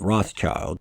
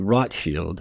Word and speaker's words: Rothschild: typically settled in between the widely accepted English version pronunciation of Rothschild rather than the actual correct way, which is closer to Rotschild, which as I covered